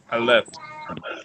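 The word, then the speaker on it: אלף: I left. I left. I left. They call it a silent letter, but it's equivalent to the A or the I in Hebrew.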